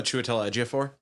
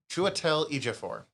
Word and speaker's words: Chiwetel Ejiofor: Oh, Chiwetel Ejiofor? Chiwetel Ejiofor.